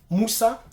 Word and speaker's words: Mussa: Christopher Moussa, son Moussa, c'est pas la même chose comme le Moussa que nous connaissons. Son Moussa, je crois que c'est M-U-2-S-A. Voilà. Mais c'est pas grave, c'est la même prononciation.